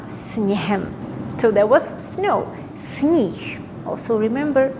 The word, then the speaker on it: sníh: Also remember, when you say sníh, it's spelled with H, but here we pronounce it as H. Sníh. However, once you add any other vowel after it, it would go back to H.